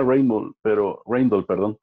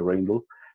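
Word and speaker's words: Rijndael: Y uno de los finalistas se pronuncia Rainbow, pero es la unión de los apellidos de los autores. No se debería pronunciar así, pero ellos, por cuestión de inglés, lo querían pronunciar así. Entonces, siempre se dice Rainbow.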